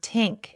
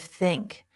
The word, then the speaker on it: think: They say tink instead of think or this instead of this. You must train your mouth to make the correct sound. Put your tongue between your teeth. Push air out for think.